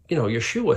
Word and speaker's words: Yeshua: talking about Jesus, but he's saying his name wrong. Like, I wonder if he knows he's saying it wrong, So here's the Gentiles going to correct this Jewish expert, and he says, well, his name was, Yeshua.